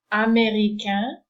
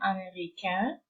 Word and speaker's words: américain: So this combination of letters is also pronounced as a nasal sound, américain, and the feminine is américaine, so no longer a nasal, and the N is pronounced at the end.